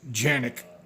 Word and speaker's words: Canik: And that's why I went with the Canik, or the correct pronunciation is Canik with a G. They're from Turkey.